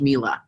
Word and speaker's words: Miele: features appliances you name it you know it's pronounced Miele everybody you know you just have to know